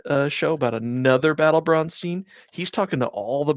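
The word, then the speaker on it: Braunstein: that brown steeners uh Brown steeners is perfectly acceptable American pronunciation because I think the German pronunciation is bronstein Bron Brownstein yeah uh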